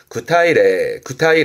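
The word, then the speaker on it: 具体例: 즉 구체적인 예를 들 때 구체 예를 쓰는데 발음은 구타이레.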